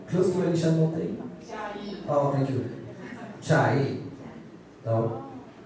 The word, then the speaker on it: Chiayi: My pronunciation is okay. Chiayi, close to any Shan Mountain? Chiayi.